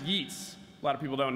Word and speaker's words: Yeats: Yeats, which is actually pronounced Yeats.